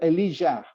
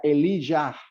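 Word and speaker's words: אליהו: Elías en hebreo se pronuncia Elijah, ¿sí? La transliteración al griego y después al español, a nosotros lo conocemos como Elías, pero el nombre, como fue pronunciado y según su significado, era Elijah, ¿sí?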